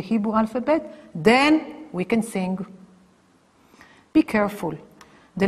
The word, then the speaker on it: sin: on the left hand side and then you pronounce it and you call it sin this is shin and this is sin you